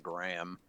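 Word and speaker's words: Hgraam: speaker speaker speaker heram I'm I'm just G to call him H I mean you could just call him Graham the H is silent or speaker because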